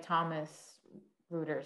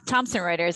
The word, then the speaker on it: Thomson Reuters: direct sourcing program, especially at a company like Thomas Reuters. I always have trouble pronouncing that. Yeah, Thomson Reuters.